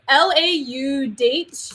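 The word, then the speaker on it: Laudate: how to pronounce latin but ladate app is lau dates so i'll put the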